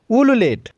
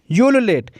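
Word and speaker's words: ululate: है अगला शब्द है उल्लू लेट या फिर उलेट इसको हम दोनों तरीके से प्रोनाउंस करते हैं उलेट या फिर उल्लू लेट ओके तो यू लेटर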